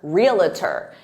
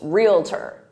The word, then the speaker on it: realtor: really annoyed by it some native speakers so stick to two syllables because that's the correct